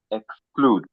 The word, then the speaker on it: exclude: So, it means we are not stressing the E.